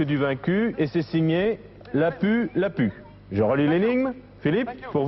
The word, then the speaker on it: Lapu-Lapu: L'une des cimes que je fixe vous livrera le casque du vaincu, signé Lapu, Lapu, ou Lapu, Lapu, je ne sais pas comment ça se prononce, L-A-P-U, L-A-P-U.